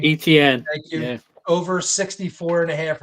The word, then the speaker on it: Etienne: ETN.